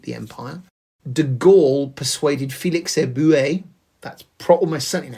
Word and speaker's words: Félix Éboué: De Gaulle persuaded Félix Éboué, that's almost certainly how it's pronounced, who was the governor of Chad, to switch his support to General de Gaulle from the Vichy France.